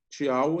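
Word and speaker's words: ciao: Tchau é um cumprimento português?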